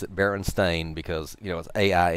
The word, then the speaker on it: Berenstain: it's not a case of well we thought Berenstein was you know it the books have always said Berenstain i'm going to pronounce it Berenstain because you know as AI n so it's